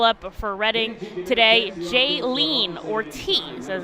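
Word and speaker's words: Jhailyn Ortiz: a very electric call up for redding today jaylene ortiz as it's pronounced will join the fights here in baseball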